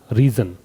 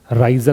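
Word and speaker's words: risen: पढ़ने का तरीका भी समझ लेना, राइज, रोज, रीजन, राइजन नहीं होता है।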